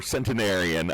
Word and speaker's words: centenarian: for Rachel and her ageism, her explicit ageism against this near centurion, or centenarian, I think is the proper way to say it.